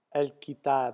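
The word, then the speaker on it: الكتاب: So pronounce the L like more like an EL almost, El. and then kitab. Kitab. Yeah, with like a lighter A sound, if you want to call it. El-kitab.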